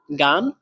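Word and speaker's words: 干: তারপরে গান, গান, এই শব্দটাতে চাইনিজের 4 নাম্বার টোন ব্যবহার করা হয়েছে, তাহলে এটাও উচ্চারণ হবে ডাইরেক্ট নিচের দিকে। গান, গান, একটু দ্রুত নিচের দিকে পড়বে।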